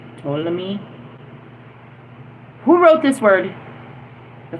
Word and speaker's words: Ptolemy: I'm going to say the T is silent or the P is silent. Ptolemy.